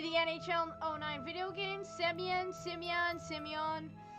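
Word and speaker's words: Semyon: it spelled like that that Russian letter which is the second to last letter of his name equates to sound yo on English other transliterated valuation include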